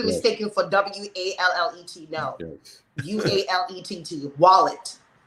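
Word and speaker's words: Ualete: for w-a-l-l-e-t no yes wallet it's u-a-l-e-t-e but we we pronounce this as wallet okay so okay anything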